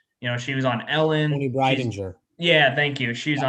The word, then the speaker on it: Breidinger: Tony Breidinger.